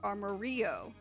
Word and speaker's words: amarillo: L's, but it's pronounced Amarillo because that's the double L's sound like a Y.